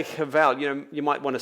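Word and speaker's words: הבל: In fact, the Hebrew word translated futile here is the Hebrew word cheval. Even though it has a B in the spelling, it's pronounced V in the Hebrew, just to be confusing to us.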